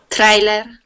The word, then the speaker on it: trailer: Now, when we pronounce a TR sound, okay, we can sort of think of that like a CH. So instead of saying tre, okay, we do a ch sound. Trailer. So it's like a CH and a TR together. Trailer. Just like that. Okay? Okay. And that's, you can pronounce every word that starts with a TR just like that. Tree, trailer, trust, trial. They all have that same tr sound.